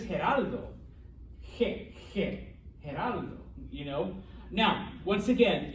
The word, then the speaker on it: Geraldo: for gerard um but knowing what you do now about the letter g his name is actually gerardo gerardo yeah uh the the one fox news correspondent he used to have his own talk show back in the day most of y'all are too young for that everyone calls them geraldo all right his name is geraldo you know now once